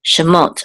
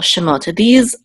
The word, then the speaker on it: Shemot: this will say mot, Shemot, and this is the accent or trope mark here, this pashta, so we know that the accent of the words on the last syllable, Shemot, these are the names.